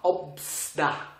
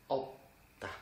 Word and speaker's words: 없다: Parce qu'il y a deux consonnes en dessous, mais les deux sont différents. Dans ce cas-là, ce qu'il faut faire, vous prononcez le premier consonne. Donc, vous prononcez pas 없다. Juste 없다. Faites attention, c'est pas 없다 non plus, parce que les consonnes en dessous ne se prononcent pas. Donc, ça fait 없다.